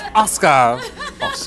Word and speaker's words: Asuka: Do you know how many times I go to say Asuka when her name comes up, and I was like, no, it's Asuka. Yeah. The U is silent.